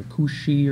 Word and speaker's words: Kush: is named kush now in the hebrew it's it's pretty much pronounced that way kush or kushi or something like that but that is synonymous